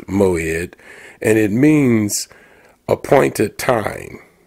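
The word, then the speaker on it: מועד: And the word in Hebrew uh means moed or the word in Hebrew is pronounced moed and it means appointed time uh a fixed time.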